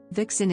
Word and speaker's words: vixen: Vixen is one of very few words in modern English that retains the Middle English Southern dialect V pronunciation instead of F, i.e.